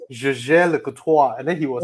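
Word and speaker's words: Jaeger-LeCoultre: Not Jaeger, it's Jaeger Le Coutoir. And then he was like, Jaeger Le Coutoir.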